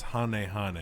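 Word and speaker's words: ハネハネ: a fair critique oh han han is it han han or Han Hane technically in Japanese it's Hane Hane because it's um I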